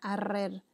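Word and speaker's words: ארור: En la palabra maldita en hebreo se pronuncia arrer, se escribe A-R-U-R la pronunciación.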